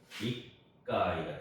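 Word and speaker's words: 一階: 그래서 익가이가 됩니다. 읽을 때 익가이 그렇게 이제 의도적으로 좀 발음을 해주시면 되고요.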